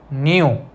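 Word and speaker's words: knew: सो the first one इज न्यू. In this word we are pronouncing it एज न्यू, okay. हम इसको न्यू एज ए न्यू pronounce करते हैं. सो द के is silent.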